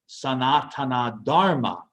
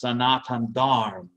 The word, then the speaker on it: Sanatana Dharma: Sanatana Dharma, or sometimes pronounced Sanatan Dharma. Sometimes they drop the final A in Sanskrit.